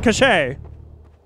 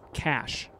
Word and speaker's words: cache: such oh look a cash ah it's been cachet i have so many people who they know that word but they don't pronounce it it's cash yeah it's cash it's not cash cash is